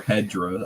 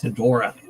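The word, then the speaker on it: Hedorah: Or Hedra. I say it's Hedora. You're missing the O. Where's the O?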